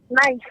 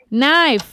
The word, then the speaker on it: knife: Knife. Knife.